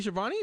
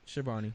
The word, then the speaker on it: Schiavone: Yes, Tony Schiavone, the announcer. I just wanted to make sure because I know there's different pronunciations. And I hate mispronouncing names. Yeah. So Schiavone.